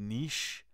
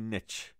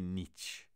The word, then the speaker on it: niche: دوستان عزیز، دو تلفظ داریم، یا میگید نیش یا میگید نچ، ولی نمیگه نیچ. ای با سکره میگه تلفظ شه هستش. نیش، نیش زنبور، نیش یا نچ کوتاه گفته میشه. نیش اور نچ، هر دوش درسته.